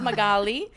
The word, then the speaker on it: Magali: but my it's built it sounds my golly golly I'm a traffic reporter